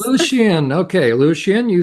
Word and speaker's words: Lucien Greaves: How do you pronounce it? Lucien Greaves. Lucien.